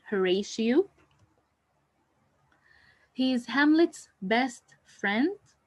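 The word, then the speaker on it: Horatio: marries his brother Claudius the following character is htio and you should know how to pronounce his name correctly htio he is Hamlet's best friend he is the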